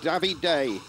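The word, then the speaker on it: Davide: of work to do davey day that's how apparently we pronounce it and uh gabby day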